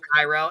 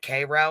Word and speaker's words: Cairo: His name is Cairo, and my daughter's like, "Is that Cairo?" I'm like, "No, it's Cairo," but I know where Cairo's at too.